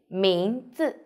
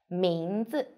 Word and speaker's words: 名字: Pay attention, the second 字 we need to light and short. 名字.